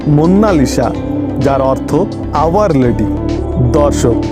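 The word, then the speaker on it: Monna Lisa: কেউ একে মোনালিসা বলে কিন্তু ইটালিয়ান ভাষাতে এর সঠিক উচ্চারণ হলো মুন্নালিসা যার অর্থ আওয়ার লেডি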